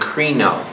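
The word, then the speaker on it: κρίνω: How do you say judgment? Krino. And K-R-I-N-O, Krino.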